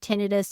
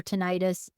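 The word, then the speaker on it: tinnitus: had some issues with tenus or tenius however you want to pronounce it ringing in my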